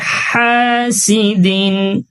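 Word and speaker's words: حَاسِدٍ: ওয়ামিশ হাসিদিন ওমিশ এখানে হা উচ্চারণ একেবারে স্পষ্ট হাসিদিন ওশ হাসিদিন হা আলিফ জবর হা এক আলিফ টান দিব আর উচ্চারণটা একেবারে পরিষ্কার করি হাসিদিন হাসিদিন হাসাদ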